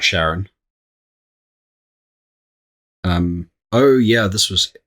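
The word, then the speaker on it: Charon: Karen. Or Sharon. Okay, yeah, I think it was. I'm sure it was pronounced Sharon.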